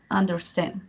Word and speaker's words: understand: Y esos casos, no, en esos casos la pronunciación, por ejemplo, understand, ese empieza con una U. ¿Y cómo se pronuncia esa U? Como una A, understand. Ese es un ejemplo, understand.